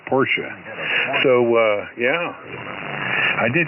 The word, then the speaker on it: Porsche: a uh a Porsche actually pronounce it Porsche so uh yeah I